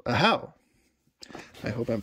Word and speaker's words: Ahau: So it's Ahau with the emphasis on the second syllable. So Ahau.